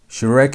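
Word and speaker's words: שורוק: Shurik makes long oo sound as in the word food. Food. That oo sound is how shar is pronounced.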